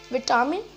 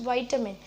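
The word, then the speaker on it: vitamin: Now seventh is विटामिन. नो, इट्स वाइटामिन. वाइटामिन हमने पढ़ा होगा मतलब हमने जब छोटे थे हमने पढ़ा था मिनरल्स, न्यूट्रिएंट्स, है ना, उसे बोलते हैं वाइटामिन, नॉट विटामिन, इट्स वाइटामिन.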